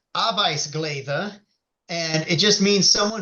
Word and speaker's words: arbetsglädje: And in Swedish, they actually did this already for someone who's really happy just working, and it's pronounced arbetsglädje, and it just means someone who's glad to work.